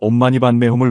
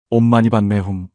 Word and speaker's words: 옴마니반메훔: 옴마니반메홈. 이 6글자의 진언은 관세음 보살님의 자비심이 응축된 신성한 소리입니다. 티베트어로 읽으면 옴마니 파드메 훔이고 한국식 발음으로는 옴마니반메홈입니다.